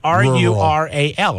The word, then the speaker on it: rural: Let me spell it. It's R-U-R-A-L, right?